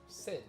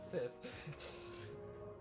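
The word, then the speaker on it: Cid: Sid, not Sith.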